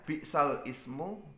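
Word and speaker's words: بئس الاسم: Jadi tulisannya bi'sal ismu, bi'sa dan al ismu, tapi bacanya bi'salismu. Jadi dibaca bi'salismu, seperti itu.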